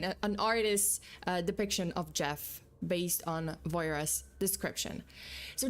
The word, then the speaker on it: Gef: It called itself Jeff, spelled G E F, but pronounced like Jeff.